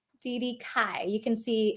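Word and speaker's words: Cai: your last name DD Kai you can see D well trying to make it all you know but no it's C AI Kai so welcome in my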